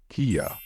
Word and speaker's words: Kia: trouble with this one the right way to say it is Kia but you're forgetting the